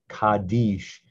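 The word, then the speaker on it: קדיש: write the hebrew word which we pronounce when we slur kaddish some people are familiar with the morris coddish or the half kaddish or the full kadash used in the prayer service it's a very sacred prayer this is how we write the word kaddish kaddish is the official pronunciation kadish line three khad khad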